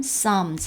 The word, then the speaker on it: Psalms: 지금 이제 읽으셨던 것처럼 시편, Psalms 할 때 P가 묵음입니다.